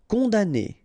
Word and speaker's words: condamné: Condamné. Okay, so it's really strange because this M here, well, technically it's not pronounced.